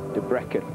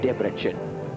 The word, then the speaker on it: Debrecen: That was in Debrecen, or Debrecen, as we learned to pronounce it in Hungary.